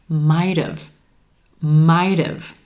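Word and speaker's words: might've: When we contract this combination, it sounds like might have. Sounding like a two-syllable word, emphasis on the first syllable and the I as in white, might have. And the second syllable is going to sound like dove again, because that final T sound is linking over in front of the contracted have and becoming a flap T.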